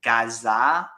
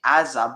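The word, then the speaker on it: עזה: root than Gaza because the Hebrew is actually Aza, but there was also a Gain, so it was pronounced Gaza, but it's spelled Aza. At least that's how it's pronounced in modern day.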